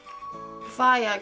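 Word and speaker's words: Feyre: sorry Belle is fire is it fire I think it's pronounced fire she is not books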